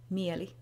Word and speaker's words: Mieli: One of the main characters is Mieli, which is the Finnish word for mind.